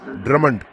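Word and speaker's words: Drummond: ड्रमंड। मुझे लगता है आपको इसे उच्चारण करने का यही सही तरीका है।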